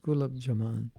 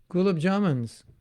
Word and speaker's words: gulab jamun: don't know um oh yeah gulab jamaan it's i think i believe it's pronounced gulab jamaan gulab jamuns what do you make gulab jamuns what gulab jamuns oh you mean gulab jamaan you know it's like